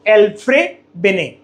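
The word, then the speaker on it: Alfred Binet: Correct pronunciation इसके नाम में डी साइलेंट है अल्फ्रेड में और बेनेट में टी साइलेंट होता है। तो आप इसको बोलते हो अल्फ्रेब बिने। ठीक है?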